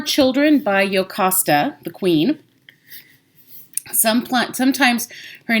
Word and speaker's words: Jocasta: Sometimes her name is pronounced Jocasti because it has a J on it, but in the ancient languages that would be an I. So you might hear Jocasti, or as I usually say Jocasta because I'm thinking about Latin and Greek.